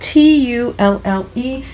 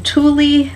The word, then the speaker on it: tulle: out of it's spelled t-u-l-l-e it's a French word so I'm probably not saying it the most beautifully French but it is a little bit more correct to say tulle than Thule I've heard some people